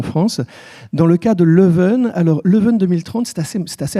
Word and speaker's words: Leuven: Donc Leuven, donc c'est la prononciation mal prononcée bien sûr en néerlandais de la ville de Louvain, pour ne pas la confondre avec Louvain-la-Neuve, qui est une ville nouvelle en Wallonie.